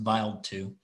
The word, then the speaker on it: Wild 2: stardust this is the comet wild 2 i think it's pronounced vile too and it passed through